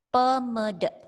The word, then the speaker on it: pamede: Contoh di sini ada kata pamede, dibacanya pemede.